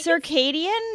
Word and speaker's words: circadian: It's circadian, not. Why did I think it was? No, that would be the only way to pronounce it. Not cur. It's not a k. Yeah, I don't know. It's not Caucadian.